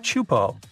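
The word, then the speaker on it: Teahupoʻo: It's pronounced chupo, and it means broken skulls in Tahesian.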